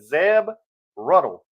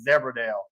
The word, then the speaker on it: Zeb Ruddle: And she's reading me names, and she said Zeb Ruddle. And I'm like, who's that? So she spelled it to me, and I was like, oh, I said, I was all this time I was pronouncing it Zebradale.